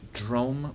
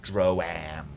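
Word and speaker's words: Droaam: Dr drum drum um it is pronounced drum by the people who actually live there live there uh ignorant Outsiders pronounce it dram which is like I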